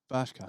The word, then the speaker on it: Bershka: Bershka.